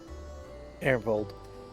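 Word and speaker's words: Arenvald: Ernvold.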